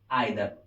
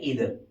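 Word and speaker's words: either: फिर एक वर्ड होता है या तो, या तो इसकी इंग्लिश होगी आइदर, इधर भी बोलते कुछ लोग, प्रोनाउंसिएशन तो आइदर या इधर।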